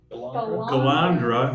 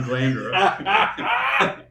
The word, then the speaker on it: Galandra: But Glenn, if I can say it right, Galandra, not Glandra.